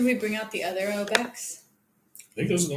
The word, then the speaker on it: Obec: Obec is how you pronounce it. Yeah, Obec. I didn't know So that. the reason why is it's Czech, Obec. Oh. And that's how you'd say it in Czech, right?